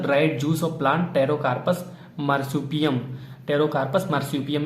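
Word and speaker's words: Pterocarpus: Composition chemical classes therapeutic uses of पेट्रोकार्पस, टेरोकार्पस, ठीक है, पी यहाँ पे साइलेंट है, टेरोकार्पस इसको कहते हैं।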